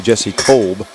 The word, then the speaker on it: Jesse Kolb: We've been saying that wrong all year, by the way. Jesse Kolb is the correct pronunciation.